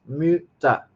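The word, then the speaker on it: Mütter: Muta.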